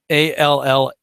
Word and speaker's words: Allais: Allais, which describes how, oddly enough, solar eclipses can cause Foucault pendulums to do all kinds of weird stuff.